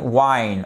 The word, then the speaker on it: whine: On a juste changé un son et pourtant, on a là 2 lettres de plus, il y a un H qui s'est glissé qui n'est pas prononcé, le E est muet, mais tiens, ça me dit quelque chose ça.